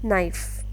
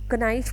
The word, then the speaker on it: knife: For example नाइफ, इट इज़ KNIFE. सो बच्चे confuse रहते हैं कि के की कनाइफ क्यों नहीं है ये.